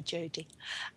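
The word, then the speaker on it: Dijodi: Her name is spelled D. Jody, D-I-J-O-D-I, but we call her Jody.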